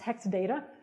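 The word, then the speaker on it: 0xdata: all mean something else the company written like that is pronounced hexadata so very clever name except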